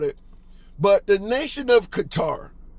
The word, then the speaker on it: Qatar: But the nation of Qatar, Gutter, if you want to pronounce it that way, depending on where in the world you live, Qatar, Gutter, it's called both names.